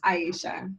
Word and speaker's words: Aisha: Aisha, do you mind if I'm pronouncing it right? Aisha, am I pronouncing it correctly? It's Aisha.